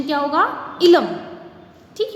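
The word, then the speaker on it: Eelam: इसका प्रोनाउंसिएशन क्या होगा? इलम, ठीक है।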